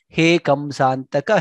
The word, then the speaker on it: हे: He becomes Ye. It is not right. So please do not make that mistake. Always her needs to be pronounced very clearly. He Kamsantaka, He Gajendra Karuna Parina, He Madhava.